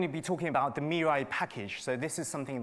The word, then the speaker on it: mirai: in the talk so Mei is Japanese for future and I'm calling it me but I know it's Mei actually the r in Japanese is pronounced more like an l and I I just